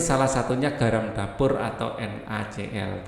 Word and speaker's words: NaCl: satunya garam dapur atau NaCl. Bukan NaCi ya, NaCl. Dulu waktu SMP Pak Ali sempat keliru bacanya NaCi.